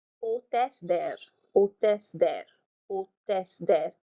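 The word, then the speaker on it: hôtesse: I'm not pronouncing the H. Hostess there.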